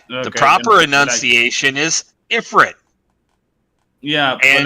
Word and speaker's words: Ifrit: over the world like the proper enunciation is Ifrit yeah and like for a second uh um